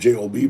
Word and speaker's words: Job: Or it's spelled Job, J-O-B, but it's really book of Job.